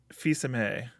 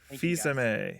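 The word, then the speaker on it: Fils-Aimé: then it's just wrong i was literally pronouncing it the way that that i would read it fisa may mystic okay thank you fisa may so you're right you're right i was wrong i've always read it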